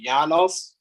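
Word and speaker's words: Janos: when his at your first name is pronounced yanos I'm going to pronounce it as Jonas because I don't I'm gonna call him Jonah sukis Jonas um so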